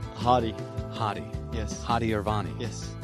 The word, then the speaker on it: Hadi: How do you pronounce the name? Hadi.